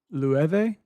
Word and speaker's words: Loewe: That is how I learned how to pronounce pretty much every foreign brand though. Loewe, learned that from Brian Park.